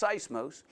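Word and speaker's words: σεισμός: sigh smooth that's how you say it is pronounced seismos and it's defined as a commotion a shaking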